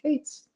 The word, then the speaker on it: K8s: of days ago that k8s which is short for kubernetes is actually pronounced Cates no new anyway if